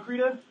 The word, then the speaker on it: Krita: It's actually Krita. It's a Swedish word.